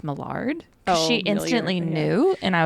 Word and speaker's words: Millard: Apparently, it's actually it's not Millard, it's Mard.